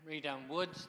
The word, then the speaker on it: Reedham Woods: It used to be a place to go up in Reedham Woods. I think that's how you pronounce it, Keith, isn't it? Yeah, Reedham Woods.